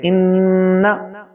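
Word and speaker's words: إنّ: Inna. So it is pronunciated actually doubled. Na. So noon is not a single, but because of shad, it carries double voice of noon.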